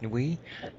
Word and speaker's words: Nuit: depicts an image of nuit I think that's the way it's pronounced correct new we oh well there's an